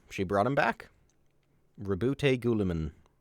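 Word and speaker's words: Guilliman: Rabbout Gulaman or Gilamin as it's pretty much always pronounced.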